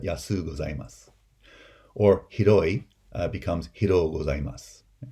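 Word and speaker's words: やすうございます: If you make the super polite form, it becomes yasu gozaimasu. Right? Not yasui gozaimasu, but yasu gozaimasu.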